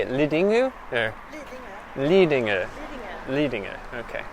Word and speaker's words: Lidingö: Lidingö.